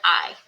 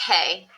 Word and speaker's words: hay: start with the word I it's not pronounced hey it's I and the H is silent so to say there